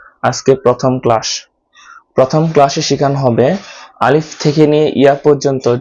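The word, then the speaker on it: ألف: এই আলিফটা উচ্চারণ করতে হয় গলার শুরু থেকে, অর্থাৎ হলকের শুরু জায়গা থেকে এই আলিফটা উচ্চারণ করতে হয়, আওয়াজগুলো ভিতর থেকে আনতে হয়, অনেক জোরে উচ্চারণ করতে হবে।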